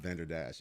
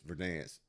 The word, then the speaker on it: Verdansk: It's not Venderdash, it's Verdansk. Until now, I said Venderdash. I always pronounce it wrong.